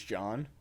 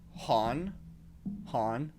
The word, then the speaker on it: John: Because in Spanish language, J sounds like an H. So that's why instead of saying Jesus, they say Jesus. So they kept saying my name Han, because they can't say John.